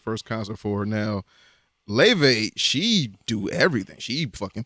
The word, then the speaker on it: Laufey: Her name is Leve. Okay. But it's spelled like Laufey or some shit.